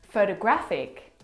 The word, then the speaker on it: photographic: The third example, photographic, the stress is on the third syllable.